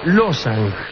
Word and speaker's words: Lobsang: Pero en realidad ustedes van a encontrar escripto losang solamente se omite una ve que no se escribe pero que se pronuncia en casi todas partes.